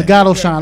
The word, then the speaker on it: Lagato Shine: Lagato Shine.